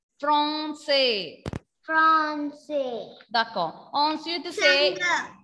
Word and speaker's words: Français: Not Francais, Français. F-R-A-N. A-N when comes in French, pronunciation will be O. A-N when comes, pronunciation will be O. Nasal O sound. Français.